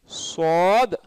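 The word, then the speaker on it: ص: ஸாத் உயர்த்தி சொல்லணும், தடிப்பமாக உயர்த்தி சொல்லணும். ஸாத் அப்படின்னு சொல்லக்கூடாது, உச்சரிப்பு கரெக்டு தான், ஸாதுங்கிறதுல நான் குவிச்சு தான் சொல்கிறேன், ஃபிசில் கூட வந்துருச்சு, ஆனால் ஸாதுன்னு தாழ்த்து சொல்லக்கூடாது. ஸாத் ஒரு குர்ஆனுடைய ஒரு ஒரு சூராவுடைய பேர் என்னது?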